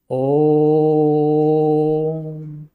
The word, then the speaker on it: ओम: जैसे आप ओम का उच्चारण करते हैं तो वहां पर आप देखते हैं ओ पर ज्यादा जोर दे देते हैं। कैसे बोलते हैं? ओम ओ पर ज्यादा जोर पड़ गया।